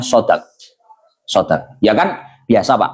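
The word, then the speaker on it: صداق: Lafaz shodq itu bisa dibaca dua shadnya bisa difathah shodq atau shadnya bisa dibaca kasrah sidq. Tapi yang lebih fasih itu bacaannya shodq.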